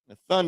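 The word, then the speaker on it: נתן: Nathun is used as a root word used as give. All right. Na by itself, tha, and the character na. Nathun. Okay, that's how you pronounce it, which is where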